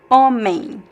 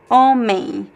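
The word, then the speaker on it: homem: Omen means man, right? But you see there's the m at the end here, but I don't pronounce this m sound. I say a a. So I have a nasal diff thong a a and at the end there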